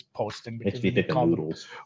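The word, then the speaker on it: Poston: to say his name i've heard announcers say i know posted is more fun i'm pretty sure it's posting we do call him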